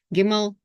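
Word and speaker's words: gimel: first stage of learning pronounce the letter and pronounce the sound it produces giml g giml g so you can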